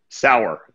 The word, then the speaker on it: Sauer: of your last name sour Tom sour sour sau er that's right and I understand you